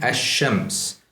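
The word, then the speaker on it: الشمس: So as you might have noticed, I am not pronouncing the lam distinctly. The lam is assimilated into the first letter, and the first letter is given shadda.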